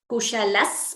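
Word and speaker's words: कुशलः: of Saundarya Lahari, Nakhalu Kushalaha Spanditum. So Kushalaha, Visarga followed by S here. So instead of Kushalaha Spanditumapi, we get Kushalas Spanditumapi. So you see the Visarga is replaced by an extra S.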